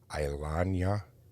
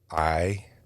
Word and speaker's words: Iyanla: Ilana Van Zant. How do you say that? I can't. It's Iyanla.